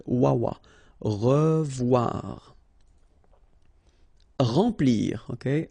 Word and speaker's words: remplir: Remplir. Okay, E-M nasal, en, remplir.